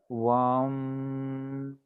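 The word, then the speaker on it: वं: है वो वम है, तो कैसे उच्चारण करें, जैसे ओम का उच्चारण हम कैसे करते हैं, ओम, तो वैसे इसमें क्या करेंगे, इंस्टेड ऑफ ओम का उच्चारण हम क्या करेंगे, वम वम, है ना।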